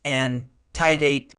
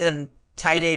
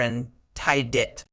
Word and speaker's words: antedate: verb and a noun as a verb it's pronounced and tiate as a a noun it's pronounced in tiate or in tiit meaning as a verb anate means to assign